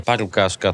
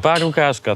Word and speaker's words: Parukářka: i jestem w hpce paraszka paraszka tak trzeba wymawiać to słowo ja się cały czas